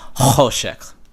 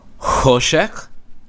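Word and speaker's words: חושך: So if I say, like if I say Kochavim, which are stars, that'll be the same as me saying Choshek, which is darkness. And it isn't. Choshek, darkness, Kochavim. It's for you to know what the person said.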